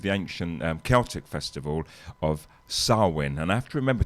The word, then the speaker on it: Samhain: And the tradition originated with the ancient Celtic festival of Samhain. And I have to remember to pronounce that right, because Samhain, they actually spell it Samhain.